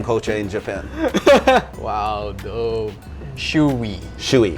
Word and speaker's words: shoey: up with like he's like let's make a shoy wall so if anybody wants to do a